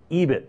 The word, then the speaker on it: EBIT: EBIT, that is pronounced.